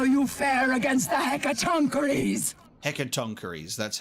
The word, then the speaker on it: Hecatoncheires: Hecatoncheires, that's how it's pronounced.